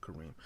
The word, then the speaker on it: Kareem: It's really supposed to be like Coffee and Cream. His name's Kareem. It's pronounced Kareem.